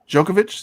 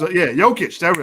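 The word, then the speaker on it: Jokić: Djokovic? Did I pronounce it right? Yeah. Number 3 was Djokovic. It was, Jokic.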